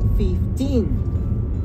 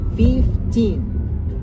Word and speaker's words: fifteen: lugar de decir three teen y fen la pronunciación correcta del número 13 es thirteen thirteen y el número 15 Fifteen Fifteen escucha y repite thirteen thirteen fourteen fourteen Fifteen